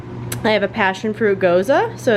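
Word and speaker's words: Gose: down a road less traveled with this passionfruit Goza we kettle and I'm pronouncing it right tells you just so if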